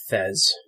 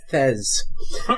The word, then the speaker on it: Thesz: So now, every time you said Thesz, I thought of the hat. I was going to say Beth. What? Yeah, because Beth rhymes with Thesz.